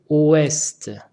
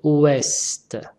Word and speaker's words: ouest: Le mot ouest s'écrit avec un T que je n'entends pas. Faux. On dit ouest. Ouest. C'est pas oué.